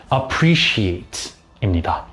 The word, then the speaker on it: appreciate: 가치를 알겠다 고맙다라는 뜻이에요 근데 여기서 C appreciate 에서가 들어가지만 SH처럼 발음이 난다는 점 주의를 해 주세요 appreciate입니다 이렇게 해서 오늘은 칭찬